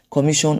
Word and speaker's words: commission: The stress is on the me.